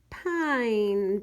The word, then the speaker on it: pine: he rides by a pine tree yep I think that's our word P I and E time mmm that E is silent telling the eye to say its name pine number five it is